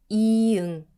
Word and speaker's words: 이응: 사과, 서울, 이응. Silent at the start of a syllable, but sound at the end, like song.